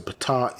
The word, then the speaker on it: Ptah: But it's actually Ptah, yeah, the opener, and